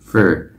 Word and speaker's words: for: Như vậy, số bốn và động từ "cho" có cùng cách phát âm đầy đủ. Nhưng đối với giới từ "for," chúng ta có thêm một cách phát âm khác mà mọi người thường dùng, đó là rút gọn thành /fər/, như trong "I do it for you."